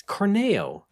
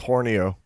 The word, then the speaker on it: Corneo: It's Corneo. Oh, I thought it was supposed to rhyme with Horneo.